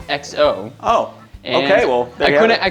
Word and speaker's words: XO: doing the show, and it turns out it's just XO.